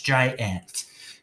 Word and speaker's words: giant: It's Jai, okay, with long I on its own at the end. And then we have our second syllable, ant, with short A closed up by itself. If we put it together, it's giant. Okay, if we say it fast and say it like we normally do, it is giant.